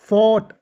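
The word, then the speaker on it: fought: फाइट फोर्ट एफ ओ यू जी एस टी फोर्ट टी से पहले जी H silent मैंने ऊपर बताया था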